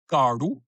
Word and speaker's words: Gardu: So, Gardu, Gardu, with a retroflex d, Gardu, means Aboriginal person.